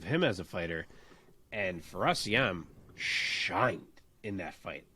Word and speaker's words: Fares Ziam: Fares Ziam? Fares Ziam, yeah.